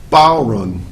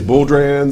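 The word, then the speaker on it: bodhrán: variety of things but the proper term is called a bow run or Ron bowon and uh people say bulr and everything else but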